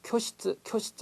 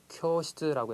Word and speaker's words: 教室: 자, 흔히 한국인 학생들이 자, 쿄시츠 이렇게 해서 우 발음을, 장은 발음을 짧게 하는 경우가 있습니다. 이러면 정말 일본 사람이 알아듣지를 못합니다. 그러니까 장은 확실하게 처음에는 의식적으로 좀 길게 발음해 주시는 게 좋아요. 그래서 쿄시츠라고 해서 쿄 발음을 길게 하는 거 꼭 기억해 두시고요.